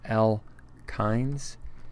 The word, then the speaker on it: alkynes: Alkynes, this is pronounced alkynes, K-I-N-E-S if you wish, kynes, and it has a carbon-carbon triple bond.